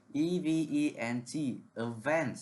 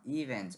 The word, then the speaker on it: event: It's the word event, not event.